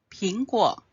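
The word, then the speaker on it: 苹果: 苹果，吃苹果就会平安。苹果的平和平安的平发音一样，所以吃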